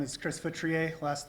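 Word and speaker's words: Feutrier: Hi, my name is Chris Futriier. last name is spelled F as in Frank, EU, T is in Tom, R I E R.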